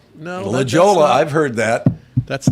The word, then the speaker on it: La Jolla: Turn left on La Jolla. No. La Jolla.